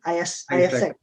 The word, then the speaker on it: AIESEC: Oh, Iqbal juga ada join ini kan, AIESEC ya, bacanya gimana sih? AIESEC.